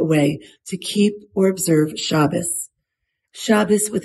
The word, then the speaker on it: Shabbos: And probably the most decisive factor in my becoming religious was what you might call the Sabbath and what I call Shabbos. That's the Ashkenazi pronunciation, by the way, and I like using